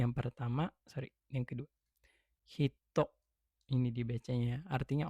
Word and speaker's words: 人: Kunyominya pakai hiragana. Ingat, kunyomi pakai hiragana ini hito. Onyominya pakai kata kana dia bisa dibaca jin atau bisa dibaca nin.